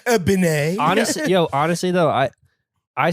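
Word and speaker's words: BENEE: pronounce this? Benet. Honestly though, I say Benny. What does she say? I think she says Benny, but everyone think?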